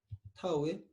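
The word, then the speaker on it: tau: 이 타우 얘기는 타우.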